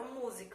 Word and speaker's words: música: Ó, música, tá vendo? Música. Então a sílaba tônica é a antepenúltima, e eu teria um exemplo de proparoxítona.